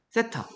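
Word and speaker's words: θ: 세타. 얘를 이렇게 쓰고 읽을 때 세타라고 읽으면 됩니다.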